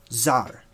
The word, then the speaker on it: czar: also have cesar czar the word czar c-z-a-r zar okay same exact thing it